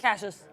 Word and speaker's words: Cassius: Yeah, do you say it Cassius or Cassius? Cassius. Nice, yeah.